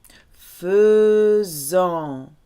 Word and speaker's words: faisons: Nous, nous faisons. Faisons. Sounds like pheasant.